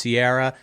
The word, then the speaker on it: Ciara: Well, it's Ciara, Ciara for all those wondering how you spell it.